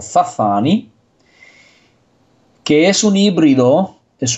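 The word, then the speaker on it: Sassani: de la raza sasani, él lo pronuncia como Zazani, que es un híbrido, es una raza híbrida que proviene del ADN humano.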